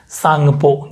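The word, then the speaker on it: Tsangpo: silent रहेगा का यह जैसे अपन साइकोलॉजिकल थेरेपी साइलेंट रहते हैं वैसे ही सांगपो विस चुनाव में उल्टी साइड है वैसे भी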